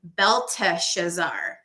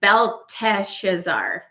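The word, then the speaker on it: Belteshazzar: given a babylonian name beltha schezar there's one extra syllable in his name versus the king of babylon it's b-e-l-t-e-s-h-a-z-z-a-r which is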